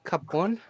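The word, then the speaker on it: Ki Poon: It is called Cup One. So it's spelled K-I space P-O-O-N. Cup One. Okay. Capone.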